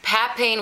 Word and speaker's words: papain: in the dermis okay so also um papain pat pain which is spelled p a p p a p a